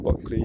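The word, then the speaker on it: Bulkeley: Again, we're looking at the Buckley Sugar Factory, which is nestled in the St. George Valley. It ceased operation in 2002. It closed its doors for the last time in 2002. Buckley is spelled B-U-L-K-E-L-E-Y.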